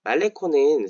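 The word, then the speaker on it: Malecón: 말레콘 떠올리실 것 같아요 말레콘이라고 스페인어로는 발음을 할 텐데요 말레콘 사실은 방파제음 이런 의미를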